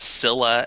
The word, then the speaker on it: Scylla: Scylla and Charybdis. What? It's pronounced Scylla and Charybdis.